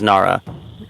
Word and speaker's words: Nara: is not Nala correct it is not Nala it is Nara okay when you're Fain